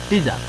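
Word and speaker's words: teaser: এখন ট্রিজার আমরা উচ্চারণ করবো টিজার, ট্রিজার না, টিজার।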